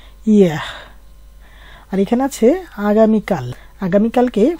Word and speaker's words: hier: এখানে আছে গতকাল, ফরাসিতে বলে ইয়েহ, ইয়েহ। এখানে এর উচ্চারণটা কিন্তু একটু হালকা করে করতে হয়, ইয়েহ।